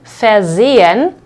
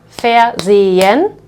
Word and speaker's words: versehen: But we have versehen, versehen, and you can see that in this case the second syllable starts with an S, so this S over here will be pronounced like Z.